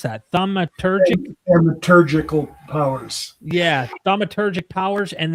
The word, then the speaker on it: thaumaturgical: 10 in both stories the divine stranger has the thaumatur How do you pronounce that? Thaumaturgic Thaumaturgical powers.